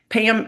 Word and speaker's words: Pam: name was Pam and we Pam had two syllables in my hometown, you know, it's like P a Yu M, you know.